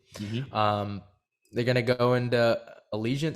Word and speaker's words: Allegiant: they're gonna go into allegiant stadium is that how you say it yeah that's how you